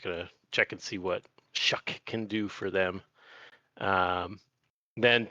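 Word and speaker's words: Shough: Tyler Shuck, interesting pronunciation, but we'll stay true to what it actually is being the starter for the Saints over Spencer Rattler.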